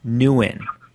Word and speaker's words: Nguyen: how do you say your last name nguyen nuen okay my last name is horrible anyway so